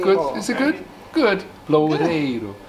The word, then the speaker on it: Loureiro: Loureiro. Then you have to do the rrr. No, not the have rrr. To have to practice the Loureiro.